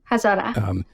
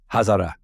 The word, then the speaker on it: Hazara: Hazara. But it's okay. Hazara.